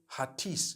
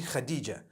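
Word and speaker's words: Hatice: across the name Khadijah in Turkish some people spell it h a t i c e I would say hatis for that no it's actually Khadijah in Turkish that's the way they write it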